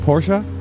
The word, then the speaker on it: Porsche: amazing wait so cool are we saying it wrong should we be saying Porsche that is I mean you could say Porsche but that's it is said Porsche and in in in Italy Germany so that's what I said